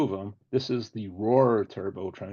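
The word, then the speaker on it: Rohr: This is the Roar Turbo Train. It's spelled R O HR U which is an aerospace company that actually designed and built this thing.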